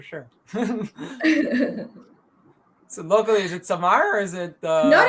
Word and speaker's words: Samar: So Arabic name, it's Samar. In saying in Urdu, it's summer. no, it's pronounced the same in Urdu and Arabic.